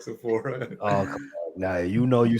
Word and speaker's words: Sephora: Is that right, Sephora?